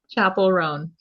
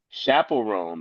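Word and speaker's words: Chappell Roan: Chapel Roan. Chaperone, like chaperone.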